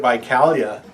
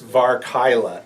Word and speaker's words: Varkylia: I've been saying it wrong for years. And I looked it up today. I was always saying it Vicalia, and my daughter says it Vicalia. And it's Varkylia. Varkylia.